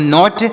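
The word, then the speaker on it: knot: क्या उच्चारण किया जाएगा के एन ओटी तो के से यहां पर नहीं पढ़ेंगे के का उच्चारण नहीं होगा यन से पढ़ेंगे नो ओ से अ की मात्रा टी से ट तो से पढ़ेंगे नॉट और नॉट मतलब क्या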